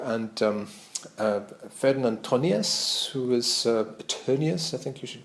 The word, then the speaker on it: Tönnies: something Max Weber and Ferdinand Tönnies, who was Tönnies, I think you should pronounce it, who was a German sociologist whose terms Weber was actually picking up on and expanding.